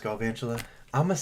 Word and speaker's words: Galvantula: Did you know it's pronounced Galvantula?